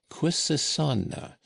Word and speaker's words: Quisisana: lettering, was the word Quisisana, by which name the retired little dwelling was known throughout the town, where they pronounced it with a very soft S and a very broad A.